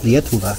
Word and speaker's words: Lietuva: Lietuva, okay.